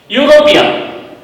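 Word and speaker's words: European: यूरोपियन, तो पहला sound आपका आ रहा है यूरोपियन। यूरोपियन मतलब YOU, ये तीनों शब्दों को मिलाने से जो यू का साउंड आता है उसका प्रोनाउंसिएशन होता है।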